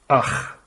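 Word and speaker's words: אח: And this word is pronounced as akh.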